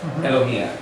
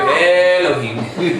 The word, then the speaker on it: Elohim: It's not Elohim. Oh, I love you, Elohim. No, I'm sorry. There's just, you're gonna sound Meshuggah if you talk to an English person who's Israeli and say, Baruch atah Elohim. You know, it doesn't sound right. It's a short E sound.